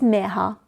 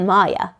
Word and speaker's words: Mirha: "My name is Miha, not Maya," she told Hayden proudly and explained how to pronounce it properly.